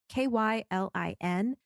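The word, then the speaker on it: Qilin: It's called a Keylin or a Kylin, or however you pronounce that. I'm sorry. It's Kylin.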